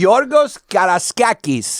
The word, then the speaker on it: Georgios Karaiskakis: Yeah, Georgios Karaiskakis.